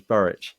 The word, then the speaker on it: Burrich: I always called him Burrick, so it's funny that his name is Burrich, and I just got it wrong, and that makes so much more sense. I might have never pronounced it right.